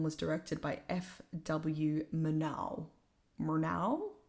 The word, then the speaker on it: Murnau: Murnau, I think is how you would pronounce it.